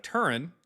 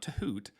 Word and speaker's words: Turin: The Shroud of Turan, not Tahoot, is And it's artwork from the 1300s.